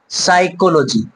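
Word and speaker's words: psychology: আগে, মানে এস থেকে এস এর আগে কি আছে? পি আছে, বাট পিটা কি হবে এখানে? সাইলেন্ট থাকবে, অর্থাৎ সাইকোলজি আমরা এটা পড়বো, ঠিক আছে? সাইকোলজি, সাইকোলজি, চারটা সিলেবাল, সাইকোলজি, পিটা সাইলেন্ট আছে।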